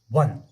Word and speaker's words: one: अगर हम प्रोनाउंस करेंगे वन की, वो आएगा WON, वन। तो ओ आता है किसी W से, ये W कॉन्सोनेंट है या वावेल?